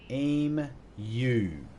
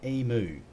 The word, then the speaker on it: emu: offense to this anyone in America but it's pronounced aim you not EMU all right and I know for a fact